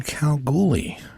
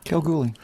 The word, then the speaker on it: Kalgoorlie: with Tim, a gentleman who was born in Kalgoorlie. Is that how you pronounce it? Kalgoorlie.